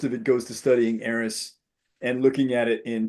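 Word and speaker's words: Eris: That's E R I S. Aerys.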